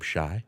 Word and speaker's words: Shai: But people say Shai Gilgeous-Alexander. Right? Okay. Because it's spelled like the old. You remember the old R&B group Shai?